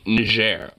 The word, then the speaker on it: Niger: it's specifically or specifically Niger because it's a French Colony historically so it's a French word so I know how